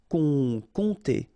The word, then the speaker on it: compter: Remember, you don't pronounce the P here, and then this OM together will produce the nasal on. Compter.